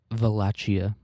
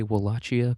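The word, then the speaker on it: Wallachia: Um, I'm going to say Walachia because if you wanted me to pronounce it as a V, you should have put a V there.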